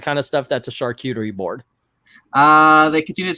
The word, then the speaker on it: charcuterie: ordered except for the carrot cutter again charcuterie I guess charcuterie doesn't spell it CH AR Cu T charcuterie charcuterie yeah charcuterie charcuterie there you go it's it's basically if